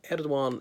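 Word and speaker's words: Erdoğan: doc I on the the G with a breve over in in Turkish is silenced mm-hmm so um ed WOM has been a pivotal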